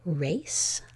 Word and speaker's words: race: And we need that silent E to force the A to say its name as well.